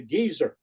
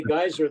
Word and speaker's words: geyser: geyser or gezer sign because the Brits pronounce it a gizer yes gizer yeah we say geyser they say Geer and so uh the